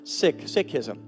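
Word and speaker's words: Sikhism: seek as we know it but it's actually pronounced sick sism and unfortunately they weren't aable to to make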